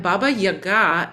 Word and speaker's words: Baba Yaga: in these stories and Baba Yaga is the is the Russian pronunciation but what we find